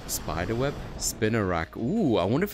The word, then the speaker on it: Spinarak: I'm amused the way this Pokemon's name is pronounced. Sounds exactly like the Afrikaans word. Spiderweb? Spinarak.